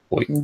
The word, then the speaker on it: Boynton: Boynton Beach? Boynton, yeah. Boynton. How do you spell that? Bointon, Boynton, like it sounds.